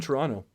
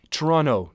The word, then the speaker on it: Toronto: like a local also Toronto don't don't pronounce the second T although again Ben Affleck